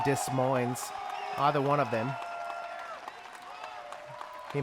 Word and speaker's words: Des Moines: i don't know why that guy didn't pronounce the s in dis mines either one of them